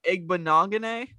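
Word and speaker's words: Igbinoghene: I always butchered it as well. Noah Igbenogany.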